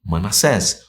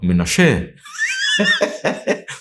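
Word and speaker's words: מנשה: Então se prepare, que a gente vai falar sobre a tribo de Manassés, ou, na pronúncia original, Menashe.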